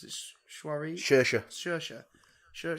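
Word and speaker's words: Saoirse: oh my god yeah it's pretty supreme Roger pronounced miss Ronan's names is shuara sure sure sure sure sure sure on him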